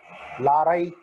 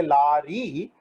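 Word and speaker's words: lorry: So Y, how do we know that Y should be pronounced as E? It could be I also, Larai. But we say Lari.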